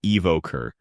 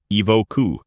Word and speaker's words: evoker: In America, people say evoker with emphasis on the second syllable. Evoker, making it sound clear and firm. British. In the UK, it's pronounced evoku with a softer ending.